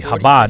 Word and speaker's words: Chabad: Like, I think the 40, Chabad, 50.